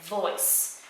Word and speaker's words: voice: sounds like an s remember the c is gonna sound like an s when there's an e after okay so because of that silent e right we don't hear it but it's bossy it's making the c go s right so it's right voice okay so that e makes it a soft c okay now i want